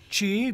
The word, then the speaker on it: chi: Chi, pronounced chi.